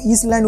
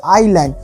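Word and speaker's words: island: বাট ইংল্যান্ড is only a little আইল্যান্ড, কিন্তু ইংল্যান্ড হচ্ছে একটা ছোট আইল্যান্ড, এটাকেও ইসল্যান্ড উচ্চারণ করবি না, আইল্যান্ড উচ্চারণ হচ্ছে আইল্যান্ড।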